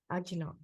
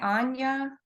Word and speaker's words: Ajna: Yes, I think it's pronounced with a sort of a Y, Anya. Oh, If Anya. I'm Okay, sorry. if I'm not mistaken. No, you're fine. I'm learning the Sanskrit as well. Okay. I believe it's pronounced Anya chakra.